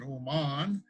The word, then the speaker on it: Oman: look at oman yes just like old man but we pronounce it oman and we're going to